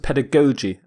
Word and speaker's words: pedagogy: some people pronounce it pedagogy both are correct according to my dictionary pedagogy pedagogy but the g's are pronounced differently the first g is hard the second g is soft pedagogy the prefix pad means